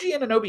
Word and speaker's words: Anunoby: Is it OG Anunoby?